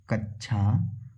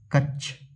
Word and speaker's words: कक्षा: कक्षा में शब्द का शुद्ध उच्चारण है कच्छा कक्ष। कक्षा और कच्छा। तो देखिए 16 का शुद्ध उदाहरण कक्षा। क्या हो जाएगा? कक्षा। क्यों? क्योंकि दोस्तों आपको पता है छ क्ष छत्री कैसे बनता है? का प्लस आधा का और स से किससे बनता है? का आधा क और स से। तो शुद्ध उच्चारण क्या होगा? कक्षा क्या होगा?